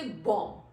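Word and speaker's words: bomb: Next word is बॉम्ब. वी से बॉम्ब, B-O-M, बॉम्ब.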